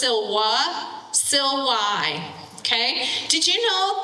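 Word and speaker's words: silva: So it's Silwa, Silwai.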